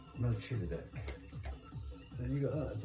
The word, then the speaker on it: Melchizedek: Order of Mezechek. Did I pronounce that right? Melchizedek.